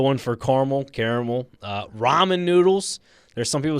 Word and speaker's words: ramen: R It's pronunciation is like r a h m e n. That's what it's supposed to I've eaten plenty of those when I was in college.